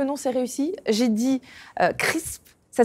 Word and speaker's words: Crrsp: J'ai dit Crisp. Ça s'écrit C-R-R-S-P, donc déjà c'est une énigme. Est-ce que je l'ai bien prononcé? C'est quoi ce nom? Chez Crisp, ça croustille Marie.